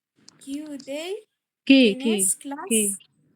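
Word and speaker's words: que: بتسلم لي التاسك وبتقول بتنطق كي غلط هي كي بتتنطق كي ما بنقولش كواي مش كوي لا كي تمام كي دي اس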